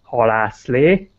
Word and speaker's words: halászlé: Did you remember fish soup name is with Hungarian pronunciation, halászlé?